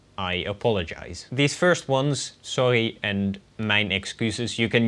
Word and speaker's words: sorry: The first one is very simple, sorry, which is spelled exactly the same as the English sorry, but said with a slightly more raspy R, I suppose. Sorry.